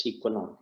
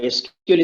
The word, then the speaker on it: SQL: to sql but still it should be pronounced as sequel okay now originally increased